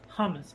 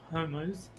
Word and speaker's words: hummus: frosted it's spelled hummus the chickpea dip is uh hummus not homos oh yeah Terry it's